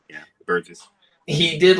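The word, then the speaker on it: Buress: That's how you pronounce his last name. I That's right, forgot. Burgess. Yeah, Burgess.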